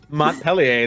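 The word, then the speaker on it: Montpelier: city state mon Millar the capital of verer mon peler that's how you say it Millar M Mont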